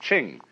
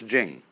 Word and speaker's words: Jing: pronounced du and Jing there is no apostrophe after the CH so if there were it would be pronounced Ching but it's Jing like a j and so Jing in